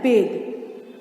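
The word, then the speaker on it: bathe: इसको बाथ नहीं पढ़ते, इसको पढ़ते हैं बेद। क्या पढ़ते हैं, बेद, बेद।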